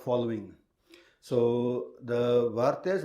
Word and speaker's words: vartiya: So it is from the Varata, or the Vartya, as we say in Punjabi, I pronounce it probably, Vat Rakhnawale, Vartya sadhus, that Shastrudya emerges.